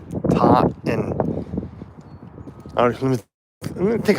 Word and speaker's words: Taunton: There's no second T. If you just say it when you're here, it's just Taunton. Taunton.